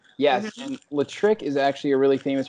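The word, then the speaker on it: L'Trick: say their name, but it's spelled L apostrophe trick. Like electric. Yes, I saw you shared it. Damon. Yes. Yeah. Latrick, yes. And Latrick is actually a really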